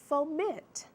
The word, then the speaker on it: foment: new one for me foment fomit two syllables the accent is on that second syllable meant foment okay it is